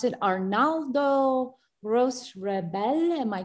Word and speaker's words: Arnaldo Roche Rabell: This is 1993, and I think you pronounce it Arnaldo Roche Rabell.